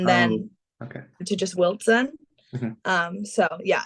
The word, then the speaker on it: Wiltzen: to just Wiltzen. Mhm, So yeah, everybody says Wilson, but just add a little TZ in there.